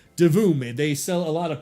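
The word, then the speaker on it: Divoom: the same company called De Voom. It is Doom. And let me spell that out for you. D I V O M like D div.a and Zoom together. D Voom.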